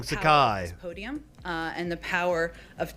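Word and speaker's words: Psaki: uh new white house press secretary jim uh sakai i think is how it's said my apol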